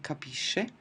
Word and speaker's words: capisce: So what I have is capisco hard pronunciation and then capisci and capisce, which is soft, capiamo, capite is normal and then again I go back to the hard pronunciation, capiscono.